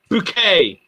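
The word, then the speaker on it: Bucket: said hello gene it's pronounced bouquet he swore blind it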